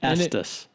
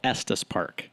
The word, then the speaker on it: Estes Park: there at St spark there wasn't any Addis wait a vs. you're not from Colorado it's called Estes Park Oh edit that out